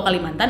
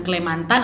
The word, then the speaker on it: Kalimantan: Nah, karena memang vokal A pada kata Mantana itu menurut kebiasaan tidak bisa diucapkan atau sulit diucapkan, maka kata Kalamantana ini diucapkan dengan Kalmantan, yang disebut oleh penduduk asli dengan Kalimantan atau Kualamontan, yang akhirnya diturunkan menjadi Kalimantan.